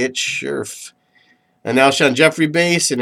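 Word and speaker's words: Scherff: That's how you say it, Scherf.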